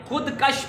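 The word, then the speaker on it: خودکش: आपने सुना होगा खुदकुश धमाका, ये खुदकुश ही है वर्ड, खुदकश नहीं होता।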